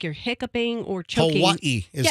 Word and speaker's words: Hawaii: Are we talking about Hawaii still?